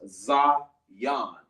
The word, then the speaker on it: Zion: It sounds like a Z-I-yon, but it's pronounced Zion.